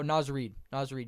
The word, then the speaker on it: Naz Reid: Oh, Naz Reid, yeah.